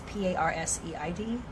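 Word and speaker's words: Perseid: I don't even know how to pronounce it. Parseid. It's Parseid.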